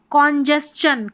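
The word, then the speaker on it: congestion: ये है कॉन्जेस्चन, कॉन्जेस्चन यानी एस टी है ना तो यहाँ पर आधा स च पढ़ेंगे।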